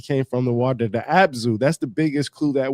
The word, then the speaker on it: Abzu: The Abzu, that's the biggest clue that we have is the Abzu. Abz Zu or AB a ab a zu or su. It doesn't matter. It's spelled different ways.